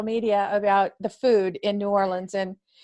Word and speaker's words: New Orleans: about the food in New Orleans and what's the correct way to say it New Orleans or New Orleans um a local would tell you no lands so that unofficially yeah